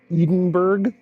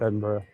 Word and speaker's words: Edinburgh: Edenburg. I'm sorry. I know it's pronounced Edinburgh.